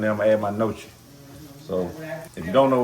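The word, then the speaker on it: gnocchi: But and it is pronounced nochi. From the hood, we call it gnosi, ganosi, or however you want to pronounce it.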